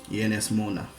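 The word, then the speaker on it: Ynys Môn: Ienes Mona is actually referring to the Welsh name for the Isle of Anglesey in Wales. However, the title is incorrect. It should actually be spelt and pronounced Ienes Mon.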